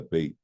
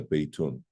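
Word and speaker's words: بيت: if we say hadha bayt, that's how we say it. We don't say hadha baytun. The ending is not pronounced if it's the last word you're going to say.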